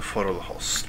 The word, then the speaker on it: Forelhost: I'll go with the semi-Scandinavian pronunciation, or what sounds best to me as a Norwegian, as this game is highly influenced by the Viking era. So Forelhost would be the correct way, I believe.